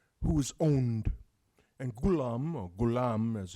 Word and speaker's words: ghulam: in Arabic one who's owned and Coulomb aur ghulam as it's pronounced just basically means boy or page or